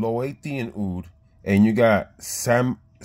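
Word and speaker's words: Siam: You got Thailand oud and Laotian oud, and you got Sami Benzoin, I believe, but it's spelled S-I-A-M.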